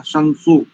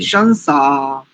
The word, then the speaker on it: शंसा: गया संसो किया था संसो संसो नहीं है शंसा शंसा तान नहीं करेंगे इता